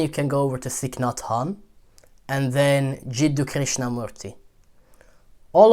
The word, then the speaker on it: Thich Nhat Hanh: it accept it and thick not han i believe his name is pronounced a very famous buddhist